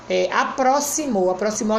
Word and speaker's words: aproximou: Aproximou a gente sabe que se escreve com X, mas tem o som do S. Bosque a gente sabe que se escreve com Q, mas tem o som do K.